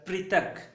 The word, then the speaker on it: पृथक: उसी प्रकार अगला शब्द है प में री की मात्रा मिलकर पृथक, पृथक, पृथक यानी भाग, छोटा सा भाग, स्लाइस कहते हैं ना, भाग, छोटे छोटे भाग।